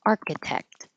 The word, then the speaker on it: architect: And architect. Architect. I don't have to say the final T.